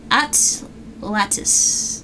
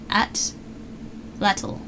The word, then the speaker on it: Atlatl: Oh, the Atlatis. No, Atlatl. Atlatl? Is that how you say it?